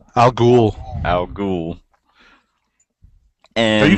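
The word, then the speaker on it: al Ghul: what's her how do you say her name Al ghoul Al ghoul and are you guys reading this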